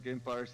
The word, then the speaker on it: Gamepires: Gamepires is similarly pronounced like vampires.